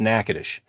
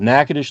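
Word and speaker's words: Natchitoches: naous but it's pronounced nackadish because it's more the French pronunciation and so you know figure that out nakadish Louisiana Nacadoches Texas all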